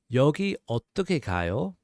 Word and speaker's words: 여기 어떻게 가요: And again, that comes out to like 여기 어떻게 가요? 여기 어떻게 가요? 여기 어떻게 가요? So a little bit faster, that's 여기 어떻게 가요?